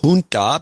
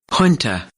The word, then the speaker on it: junta: two weeks ago okay so i've got two pronunciations for junta which has always been used in the united states says junta because it's a kind of a south american